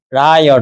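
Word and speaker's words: רע: 근데 악이라는 원어가 발음이 라요. 라.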